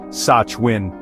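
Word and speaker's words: Samhain: The connection between witches and Halloween begins with an ancient Celtic festival called Sam Hain, pronounced Sachwin.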